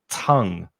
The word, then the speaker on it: tongue: The spelling's a bit tricky of tongue. The vowel sound is ah. So tongue.